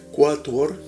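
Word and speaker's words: quattuor: latín un 2 tres cuator porque en latín después de la q se pronunciaba la u cuator quinque sex s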